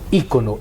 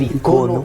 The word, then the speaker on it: icono: Y entonces cada icono, porque no se dice ícono, el ícono es el publicitario, el icono es el espiritual.